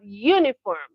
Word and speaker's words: uniform: Number seven, we have uniform which also has the sound Y at the beginning.